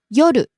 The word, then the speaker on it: 夜: 聞きます Next, 夜 evening, night. 夜夜 Starts high, ends low.